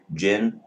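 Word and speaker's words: djinn: have tangu and I think I might have pronounced um the middle one Jin just Jin d j i n n there's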